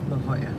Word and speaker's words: La Jolla: where's your apartment I'll drop you off it's pronounced La Jolla it's right here thanks no problem he